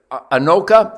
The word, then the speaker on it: Anoka: what a rifle thank you how do you pronounce it anoka anoka minnesota and thank you to all my